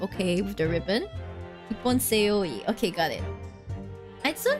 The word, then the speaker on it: seoi: Ippon seo. How do you pronounce this? Pronunciation? Please? Please? The se. Okay. Hold on. Seoi.